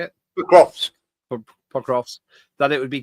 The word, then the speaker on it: Pokrovsk: Pokrovsk.